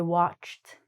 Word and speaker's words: watched: This, believe it or not, is actually pronounced like a T. So we say, I watched Netflix.